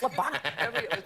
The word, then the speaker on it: Levana: Everyone kept calling me Lavona. It's Levana.